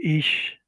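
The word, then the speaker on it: אִישׁ: Y aquí vemos cómo se escribe la palabra hombre. En hebreo se dice ish.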